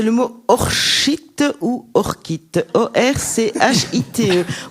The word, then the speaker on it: orchite: mot orchite ou orchite, O-R-C-H-I-T-E. Moi je le prononcerai orchite, c'est plus élégant, mais enfin... Tu es gâté, Thierry, tu l'as... Eh bien tu l'estimes comment? bien non, c'est vraiment orchite.